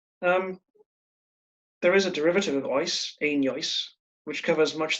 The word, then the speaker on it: oes: Then in Welsh, there's a cognate, an equivalent word, and it's pronounced oes, O-E-S.